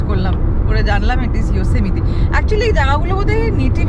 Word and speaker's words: Yosemite: কত রকমভাবে প্রোনাউন্স করেছি, তারপরে ফাইনালি গুগলে গিয়ে প্রোনাউন্সিয়েশন ক্লিক করে শুনেছি, আর ওখানে এরকম বলতো ইয়োসেমিটি, ইয়োসেমিটি। এবং এটাকে নিয়ে অবসেসড, কবে থেকে আসার 1 মাস আগের থেকে প্র্যাকটিস করছে ইয়োসেমিটি কি করে বলবে। আমি তো ইয়োসেমিতেই বানিয়ে দিয়েছি, আমার দেখে মনে হচ্ছে ইয়োসেমিতে, ও